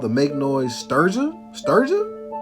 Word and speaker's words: Strega: Strega. How you gonna pronounce that?